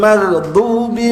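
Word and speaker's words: المغضوب: mana ulnya ya, ghairil maghdubi alaihim waladin pegang lamnya, tekan kebawah. Bukan walad ya, bukan ghairil, ghairil magdu, du, bukan du. Ghairil magdu memiliki wau di depannya, jadi agak panjang, ghairil maghdubi alaihim bi,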